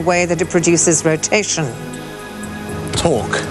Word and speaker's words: torque: Jacob, rhyming with fork, what is a force applied in such a way that it produces rotation? Torque.